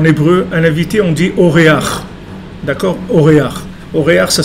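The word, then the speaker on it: אורח: En hébreu, un invité, on dit Oréach. D'accord? Oréach. Oréach, ça s'écrit quoi?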